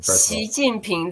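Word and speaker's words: 习近平: Xi Jinping.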